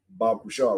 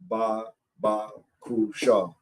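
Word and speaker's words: בבקשה: Left to right, pronounced right. So the word Bab Kusha, right? Ba Kusha. Ba Kusha, right?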